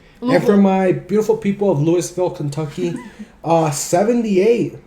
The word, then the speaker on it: Louisville: with that humidity so you know um it's pronounced Louisville thank you very much I did get corrected